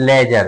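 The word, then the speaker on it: ledger: जैसे कि मान लीजिए लेजर क्या एल लेजर एल ई डी जी ई आर आर तो इसमें डी क्या हो गया? साइलेंट रहता है।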